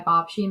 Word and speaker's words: babci: So probably, it's not really a family tradition, but my babci makes pierogies, and only women in the family.